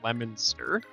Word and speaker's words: Leominster: place in mass that looks like it's pronounced leo leominster but it's leominster yeah and then there's